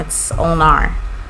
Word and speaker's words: ulnar: There was a very wise person that said, "Do not pronounce it ulna." Ulnar. It's ulnar.